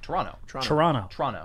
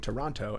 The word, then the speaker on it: Toronto: The second T is silent. So yep. Toronto.